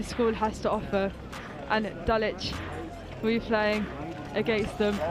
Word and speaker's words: Dulwich: Dulwich. Dulwich.